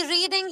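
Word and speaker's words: read: आई रीड a book, ठीक है, आई रेड a book, past, रेड, लिखते रीड है, बोलते रेड है।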